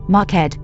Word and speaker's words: marked: pronounced with two syllables I have heard marked pronounced with two syllables like markad but online dictionaries show